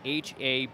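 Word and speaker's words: Haberer: Haber, number 44, spells his name H-A-B-E-R-E-R, but pronounced Haber.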